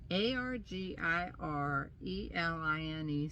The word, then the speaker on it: Argireline: I believe it's pronounced ARGIRELINE serum.